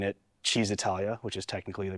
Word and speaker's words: Cisitalia: So this is an Allied Swallow, which is an exact copy of the Cisitalia, which I know I'm pronouncing wrong, but I hate saying it, Cheesitalia, which is technically the correct way to pronounce it.